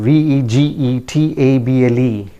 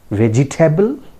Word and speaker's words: vegetable: I repeat the spelling, vegetable. Vegetable? No, it is pronounced as vegetable. Vegetable. See the phonetic transcription here, vegetable. It's not vegetable, right?